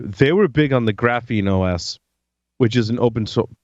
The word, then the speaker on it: GrapheneOS: GRAPHENEOS. There's also Lineage as well. Graphene OS. Lineage is the one I was familiar with. Yep, and Lineage is out there too. They were big on the Graphene OS, which is an open source, but they were